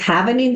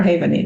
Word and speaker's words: Havening: know a lot about, is it happening that you say, happening or havening? Havening is how you pronounce it.